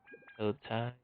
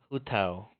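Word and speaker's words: Hu Tao: Paramita Papilio ends when its duration is over, or Hao-Tai. Hao-Tao. Hugh. I can't fucking say her name without saying it. Say Tai. Hu-Tao. Her name is Hu-Tao.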